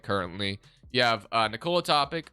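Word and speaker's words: Topić: You have Nikola Topic, or sorry, Topic, I think is actually how you say it.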